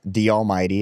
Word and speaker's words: D Almighty: And the name I chose was D Almighty. It's spelled DALLMYD, otherwise known as Scuba Jake now too. But D Almighty means like the Almighty.